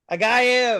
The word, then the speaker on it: Agayev: And I'm today we're joined with guest comedian Agayev. Is that right? Agayev. Agayev. It's There's a fine. V in there. It's fine if you can't pronounce my Russified name.